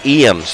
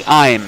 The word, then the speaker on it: Eames: And Ashley Eames, am I pronouncing it? It is Ashley Imes. Imes, yep. Thank you.